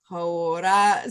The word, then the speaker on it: hauora: Hauora.